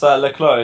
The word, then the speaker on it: le Clos: It's le Clos, yeah. You don't pronounce the S. It's from French origin.